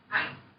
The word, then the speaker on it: anh: It's like not pronounced as an H. Yeah, so Southern people will say this, like I told you, I'm not entirely sure how Huế is your family hometown, how a Huế person will particularly say this word, but in the South we will say anh. So a lot of the time Vietnamese ending sound is not pronounced.